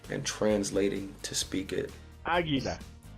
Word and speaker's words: águila: Águila. Águila. Interesantemente, el águila. It's always masculine. El águila? Yes. Oh crap. Here we go. El águila. You know why? Because No. the stress is on the first A.